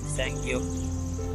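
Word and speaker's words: 쌍기역: স্যাংগিয়ক। যদি গিয়ক যদি এরকম ডবল থাকে, দুইটা থাকে, তাহলে আমরা উচ্চারণ করবো সেটাকে স্যাংগিয়ক।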